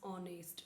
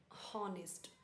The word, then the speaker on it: honest: So let's start that is द ऑनेस्ट would cutter means ऑनेस्ट this it's ऑनेस्ट नॉट ऑनेस्ट एच is silent.